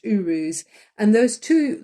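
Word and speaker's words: Uruz: let me remind myself it's Urus it's pronounced Urus and those two like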